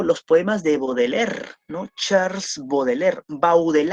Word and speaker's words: Baudelaire: o los poemas de baudelaire no charles baudelaire bau del aire se escribe por si acaso pau del aire como grande charles bau del aire del aire motors baudelaire el patriarca de